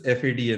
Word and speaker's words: FADA: And we pronounce this FADA, not FADA.